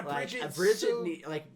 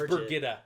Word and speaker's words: Brigitta: So okay, yeah, Bridget they need to like almost completely write out Avienda. Or no, actually we're pronouncing it wrong. It's Brigitta. Brigitta.